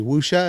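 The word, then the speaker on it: wuxia: how to pronounce it the w-u-x-i-a wusha is that how you pronounce that yes yeah um with the wire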